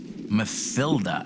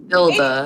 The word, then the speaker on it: Matilda: Mathilda, actually. Matilda. It's not pronounced Matilda. Even with Matilda.